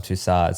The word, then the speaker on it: Tussaud: wax figure at Madame Tussauds. Speaking See? of, yeah. Oh. It's not Photoshop. Yeah, it isn't Photoshopped, so you were right about that. Tussaud, I believe it's pronounced. Was it Tussaud? Yeah. Not Tussauds.